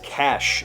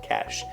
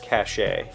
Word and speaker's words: cache: to sound smart is cash it is a noun meaning something hidden or stored everyone wants everyone was jealous when they learned of moria's cache of acceptances to the finest schools cash c-a-c-h-e i've also heard that pronounced cachet